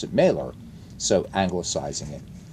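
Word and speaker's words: Mahler: Well, see, I call him Mer because of the the the composer Gustav Mer.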